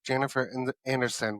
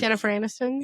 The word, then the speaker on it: Jennifer Aniston: There was speaking of that, there was a clip that I watched that was Jennifer Anderson was in the movie. Jennifer Aniston?